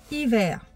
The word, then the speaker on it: hiver: Hiver, il y a un H qui est muet, mais seulement pour faire voir qu'il est tout doux. On le prononce pas, mais on ne le prononce pas, mais il est là, il est tout doux.